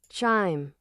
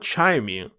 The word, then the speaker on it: chime: But why for chime it's an exclusion? It's not chimey.